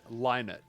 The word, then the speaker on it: Lynott: God, Pronounced Chinatown's Lynott. Okay, Lynott.